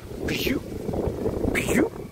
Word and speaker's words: Peugeot: 就 Peugeot。